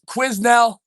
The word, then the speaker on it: Quesnel: We're playing the Quesnel Thunder. It's spelt Quesnel. It's pronounced Quesnel.